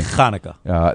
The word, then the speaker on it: Chanukah: We say Hanukkah, you say Chanukah.